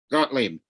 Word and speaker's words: Gottlieb: How do you say that last name? Ken Cottabell? Cottabez? How the fuck do you say that last name? Gottlieb. Gottlieb?